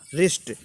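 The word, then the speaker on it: wrist: रिस्ट, रिस्ट means कलाई, देखो डब्लू को साइलेंट कर रहा हूँ।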